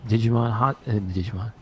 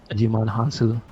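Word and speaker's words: Djimon Hounsou: That was Digimon Han. No, the D is silent. Digimon Hansu.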